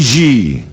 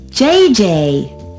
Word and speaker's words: JJ: I mean JJ g g j j on F you pronounce g like J and J like G she may very well be JJ in America but in France she is G how well does she